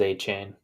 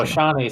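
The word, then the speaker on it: Achane: Trevor how's the correct and I just looked it up it is a chain although Ashanti sounds cooler it's like Ashante for sure I'm lower on Kincaid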